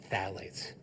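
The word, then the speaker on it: phthalates: should know is called phalates. Phalates. Phalates. spelled with a ph. It is the worst way to spell it. It's like an alphabetical mess.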